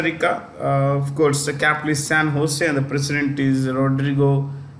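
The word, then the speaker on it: San José: thing so you have San Jose it's pronounced with an H ose Fair so we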